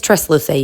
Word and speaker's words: Tresluce: Okay, so I'm editing this video right now, and I have said this brand's name wrong a couple times. I don't know why I was not saying the S. It's Tresluce, you guys.